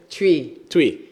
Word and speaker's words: Twi: Tree. Everyone say tree, like chewing gum. Tree. Like you're chewing gum.